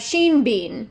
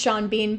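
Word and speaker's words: Sean Bean: them for father archeron I have Sheen Bean just kidding it's Shan Bean but look at the way it's spelled do you not want to say Sheen Bean sha Bean not for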